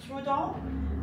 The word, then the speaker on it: Trudon: I think it's Trudon, but it's pronounced Trudon, but it looks like it says Trudon, like TRV. But apparently it's TRU.